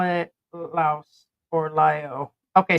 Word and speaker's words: Laos: They call it Laos or Lio. Okay, so the S is silent. Okay. Yeah, I just kept maybe it was just the news people that kept calling it Laos with the S.